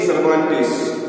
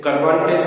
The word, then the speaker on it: Cervantes: तो adopted from don कीहोते bye Miguel दे सर्वांटेस। ठीक है, मिगुएल दे सर्वांटेस, CERVANTES, करवांटेस नहीं, सर्वांटेस।